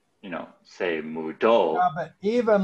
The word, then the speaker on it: se mudó: It's the same word, but no stress. The stress is me mudo. But se mudo, the stress is on the O.